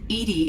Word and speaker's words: EDI: are you named edie edie is the phonetic pronunciation of edi that is an acronym for enhanced defense intelligence how are you getting